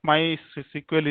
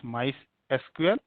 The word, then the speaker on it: MySQL: will install installation of my SQL is very easy okay either you pronounce mice SQL or MySQL okay both pronunciation are correct only yeah so what you